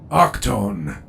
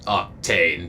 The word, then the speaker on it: Octane: here after the war octone that is how you pronounce it yes uh it's octane but yeah keep watch while